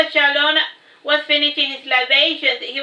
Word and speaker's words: Chalon: of those dead languages it is pronounced the same way as you do Shalom but with an end sound at the end of it now back to the matter hand J Shalon was finishing his Libations